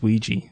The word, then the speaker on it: Ouija: doesn't know how you say it region it's Ouija Ouija yeah Ouija board nobody said people say Ouija board don't they they mispronounce it like that one video or it's